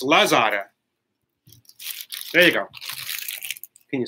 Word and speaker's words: Lazada: We have something here called Luzada. Luzada. And I just got an order today. Oh, sorry, not Luzada. What am I saying? It's Lazada.